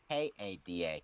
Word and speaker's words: Kada: Well, actually, no, Kada, because like Kata, K-A-D-A.